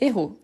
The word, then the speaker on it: héros: On se trompe parfois à cause des héros. Héros, c'est avec un H aspiré.